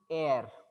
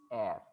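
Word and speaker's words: heir: Here also you people have to remember that this is air. You should not say hair. H is silent. It is air.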